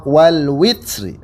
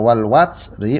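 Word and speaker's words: والوتر: saya ulang ya alwatsri Ini ada dua pend ada dua qiraat yang pertama bacanya walwatsri wwya di fathah yang kedua Wal witri wwya di kasrah Nah di sini alaihim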